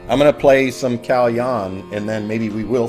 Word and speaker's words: Kalyan: So we say Kalyan.